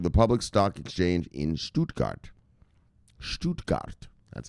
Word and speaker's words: Stuttgart: operating company for the public exchange in stuttgart stuttgart that's how you pronounce it this makes BS DX the first